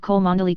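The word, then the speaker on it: Cholmondeley: Kubri Lonover Marjgery Banks sellers Vikcount Berkeley of Cole Mandelly Castle Warikshshire pronounced Kubrith Lanover Marshbanks sellers Vikcount Barkley of Chumly Castle Warikshire.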